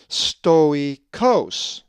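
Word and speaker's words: στωικός: But seeing that the accent is over the omicron, it is pronounced stoikos. It's actually very easy. Just remember, when you see the double dot, pronounce each vowel separately.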